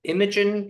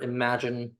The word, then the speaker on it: Imagen: And also Imagen or Imagine, one of the two ways of pronouncing it.